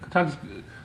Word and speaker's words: Kotaku: It's like otaku with a ka.